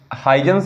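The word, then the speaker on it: Huygens: इनका नाम है कुछ लोग ह्यूग पढ़ेंगे हाइजेंस पढ़ेंगे पर अगर डच की भाषा में कहा जाए तो हकस बोलेंगे क्या बोलेंगे हकस बोलेंगे तो उस परे हमें ध्यान नहीं देना है बस हम स्पेलिंग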